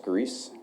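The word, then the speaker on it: Gries: Detective Grease, A-L-E-X, last name is spelled G-R-I-E-S.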